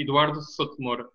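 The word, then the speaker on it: Eduardo Souto de Moura: we get it uh uh so the person pronunciation the full name would be Eduardo sotomura yeah it's a little bit uh close the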